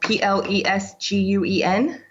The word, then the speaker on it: Plesguen: I would say it's pronounced Plesguen.